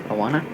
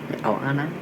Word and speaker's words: Oana: That's how you pronounce the name, Oana. Oana.